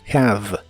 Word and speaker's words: have: v y por último la e del final de las palabras en inglés casi siempre es muda como en este caso have have la H de has